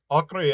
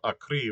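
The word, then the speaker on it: Acre: a location before um akri ends with an e you know like if it ended with an i the last syllable would be stressed but it ends in an e so it's akri it's it's not a cree which would be written with an eye um okay yeah there's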